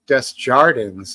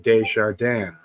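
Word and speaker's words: Desjardins: the locals who um had French Canadian names change the pronunciation to English like they'd call it Des Jans instead of De jardan yeah I get that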